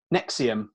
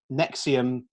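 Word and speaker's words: NXIVM: Colts which I can't how do you pronounce that Colt its neck serious nexium yeah isn't there a V in it there is but then that's like a slight shiver cheese isn't it the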